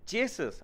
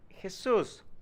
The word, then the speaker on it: Jesus: You're my friend and I love you, but first of all, I'm not Jesus. My name is pronounced Jesus.